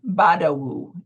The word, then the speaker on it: Badawu: So, I'm speaking of Badawu. And, tell me, am I pronouncing your last name properly?